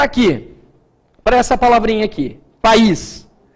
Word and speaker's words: País: País. O I é a vogal, certinho? A vogal tônica, tá? Então, aqui eu tenho vogal tônica, o is, sílaba tônica é o is.